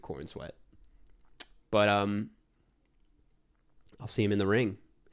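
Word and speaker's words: Corenswet: then I was like, there's just no way that's how you pronounce it. And turns out that is how you pronounce it. It's just David Cornsweat.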